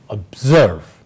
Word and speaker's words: observe: next word is observe so it's a well and stress in serve so we say observe right now this word